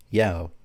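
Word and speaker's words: 幺: forms of the language one is pronounced yao which sounds like yao which means will be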